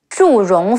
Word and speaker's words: Zhu Rong: In the novel, Meng Huo's wife is Zhu Rong Fu Ren, Zhi Wu Zhu, Ri Ong Rong, Zhu Rong.